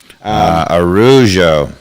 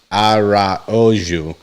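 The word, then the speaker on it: Araújo: It's basically Ojo, and the emphasis is on the O, but Araujo. But these got it. Fine folks are saying this is it, right? Araujo, and the emphasis is on the U with the accent, right?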